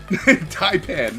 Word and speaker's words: taipan: that the Inland uh tapen Tai Pan yes I would with Tai Pan like like the Chinese dinner but not but okay